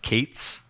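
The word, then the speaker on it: K8s: appear in this talk the kubernetes abbreviation is pronounced kate's like Kate's Docs for the sake of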